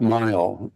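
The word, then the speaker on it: Mihl: in 1930 by doc mile it was known as doc m g h l l pronounced Mile and they open he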